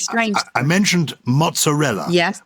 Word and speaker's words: mozzarella: I mentioned mozzarella, yes, which I think is correctly pronounced mozza, because it's two Zs, not mozza.